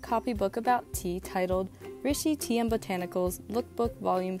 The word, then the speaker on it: Rishi: It's pronounced Rishi.